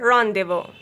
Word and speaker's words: rendezvous: Finally, letter Z will be silent in these words. Laissez-faire, rendezvous. Thank you so much for watching this video.